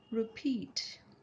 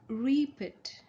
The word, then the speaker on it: repeat: for example this word repeat right it's not reap it right it's not reap it it's repeat the food the stress is on Pete its repeat right sometimes our